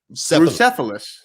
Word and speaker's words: Bucephalus: Is pronounced Bucephalus. Cephalus, you dullard.